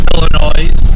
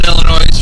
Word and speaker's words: Illinois: They don't know that the S is silent, so why? Yeah, just like the Jewels. The Jewels. No, and the saying is, we don't pronounce the S in Illinois, that's why we added to Jewels.